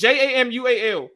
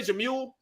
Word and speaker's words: Jamual: My name is Jamual. You know how many people say Jamul?